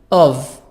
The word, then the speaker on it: of: Of. The F here is pronounced V sound.